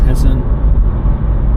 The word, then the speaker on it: Hessen: in ger German language so it's should be pronounced as hessen and D Shir hen whis bad and Castle